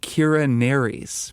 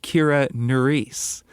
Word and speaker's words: Kira Nerys: on Deep Space Nine who I called Kira Nerys because I've never watched Deep Space Nine and have never heard her name pronounced. As it turns out, her name is pronounced Kira Nerys and I was wrong.